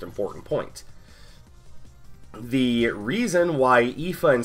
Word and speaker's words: Aoife: Their names look like Aoife and, what is it, Skatach? Their names are actually pronounced Aoife and Skahak.